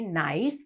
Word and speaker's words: knife: ඒක සද්දය ඇහෙන්නේ නැති silent K අකුරක් තමයි එතන තියෙන්නේ. knife කියලා ලියනකොට අනිවාර්යයෙන්ම K අකුර ලියන්න ඕනේ. But it is a silent letter. We don't say knife. We say knife but the K letter is there.